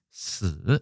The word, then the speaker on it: 死: 장음으로 되어 있고 중국 발음은 스 이렇게 되어 있습니다.